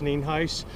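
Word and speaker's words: Nienhuis: County Sheriff Neen spelled n-i-e-n-h-u-i-s and it's pronounced Neen Heist uh we're here out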